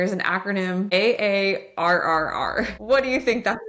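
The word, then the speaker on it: AARRR: And it is pronounced R R.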